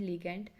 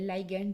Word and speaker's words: ligand: 3 pathways हैं, signalling bye CD95 लाइगेंड, signalling bye TNFR1 लिगेंड या लाइगेंड जो भी आपने प्रोनाउंसिएशन करनी है, सिग्नलिंग बाय DR3 लाइगेंड।